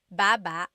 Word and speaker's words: baba: So depending on how you're saying it, it could be baba, chin, baba. Emphasis is on the first syllable, baba. Then there's babba babba. Emphasis is on the second syllable syllable that means to go down.